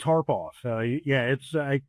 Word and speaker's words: Tarpoff: So yes, Tarpoff. I know it looks a little different, but it is easy to pronounce.